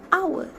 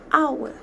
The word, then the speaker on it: hour: the word our starts with H but we pronounce the word our as hour not how repeat after me the word hour